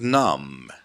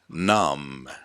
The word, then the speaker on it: numb: The next word is numb. Numb. B is not pronounced.